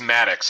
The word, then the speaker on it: Maddox: Yeah, by the way, it is Maddox. I did ask.